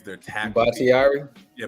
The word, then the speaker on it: Bakhtiari: Bakhtiari? Yeah, Bakhtiari.